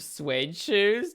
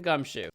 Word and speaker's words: Gumshoe: Right, and you were Detective Suede Shoes? Detective Gumtree? No, I know his name. It's Detective Gumshoe. He's a little dense, but we don't need to get his name wrong.